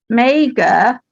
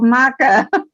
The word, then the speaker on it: Magor: a a debate on whether mega which our new portonians say is the right way or maga yeah maga which is uh what is good that's well she isn't it you know yeah for welsh you know and there is a bit of debate going on about how it's pronounced but we always said may go yeah i've heard all